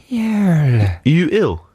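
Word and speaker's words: Yuill: was very nice um y u i double l how would you pronounce that you ill you are yeah exactly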